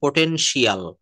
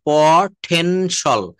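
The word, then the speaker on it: potential: শব্দের শেষে TIAL অথবা CIAL, এটা যদি থাকে তো উচ্চারণ হবে সল। হ্যাঁ, উচ্চারণটা তখন হবে হচ্ছে সল। যেমন আমরা সল, সল বলবো। যেমন আমরা এটা আমাদের মতো করে বলি হচ্ছে পোটেনশিয়াল, পোটেনশিয়াল। কিন্তু এটা সঠিক উচ্চারণটা হবে, এটা সঠিক উচ্চারণ তো দেখেন প, তারপর উচ্চারণ করতে হবে পটেনশল, পটেনশল, ইয়েস। এখানে আমরা কিন্তু পোটেনশিয়াল আমরা বলি, আর এটা নেটিভ স্পিকাররা বলে পটেনশল, পোটেনশল, পটেনশল, পটেনশাল, সম্ভাব্য।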